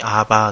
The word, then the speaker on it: 아바: 아버지라 부르게 하셨느니라 2 아바 는 아빠 라는 발음이 라고 생각하면 될 것 같습니다 그러므로 네가 이 후로는